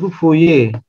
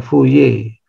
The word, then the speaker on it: Fourier: dan dan macam-macam dia orang Perancis jadi bacanya Yang bener fuye r nya jangan kedengaran ya fuye jadi ada dua tokoh